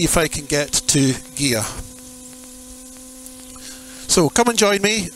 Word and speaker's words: Gigha: of Scotland called gear it's spelled Giga but it's pronounced gear and there was a